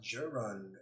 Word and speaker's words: gerund: Sheba says it's pronounced gerund. Oh, hello. The ing makes it gerund.